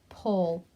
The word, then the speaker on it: pole: write the north north pole and we're about to learn those bossy e's make the vowel in the middle say its own name pole and the e is silent okay so the boys